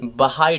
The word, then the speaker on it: बहाई: उसके बाद भाई टेम्पल, नॉट भाई, बहाई टेम्पल।